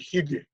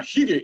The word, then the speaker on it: hygge: 3 or 4 sentences without saying the word hygge. Now, hygge is spelled Hygge.